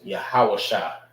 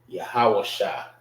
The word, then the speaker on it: Yahawashah: So the letter that loses its A is the Shah. Because I don't have an A. That's the only letter that don't have a vowel or a vowel sound as of ah.